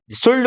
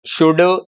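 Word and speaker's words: should: तो ये भाई सुल्ड, बुल्ड, कुल्ड नहीं है, ये क्या है, शुड, वुड, कुड।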